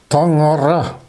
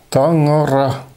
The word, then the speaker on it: Tangara: On prononce ce mot en yakoute Tangara. Tangara.